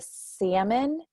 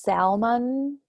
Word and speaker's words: salmon: some of that because the salmon si LM o n I guess that's a fish but there's different kinds of Salmons and it's not pronounced Salman and so I was